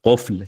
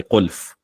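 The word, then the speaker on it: قفل: Instead of qufl, he would say qulf, or instead of mubtala, afflicted, he would say muftala.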